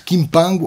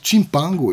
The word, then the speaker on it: Kimpango: Os Nlaza vão se fixar em Monte Kimpango ou Monte Chimpango. Eu não sou de língua Kikongo, mas os entendidos que me tiverem a ouvir dirão como é que será a melhor pronúncia, ou se valem, ambos.